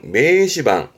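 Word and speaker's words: 名刺判: 이게 발음은 매시방, 매시반입니다.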